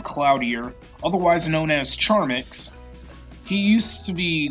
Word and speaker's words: Charmx: He goes by Charmx, like it has the IX at the end, but it just has the letter X at the end.